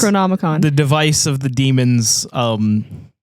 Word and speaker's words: Necronomicon: It's Necronomicon.